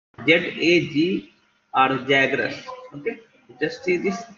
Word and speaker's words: Zagros: It is pronounced Z-A-G or Zagros. Okay. Just see this Zagros mountain valley.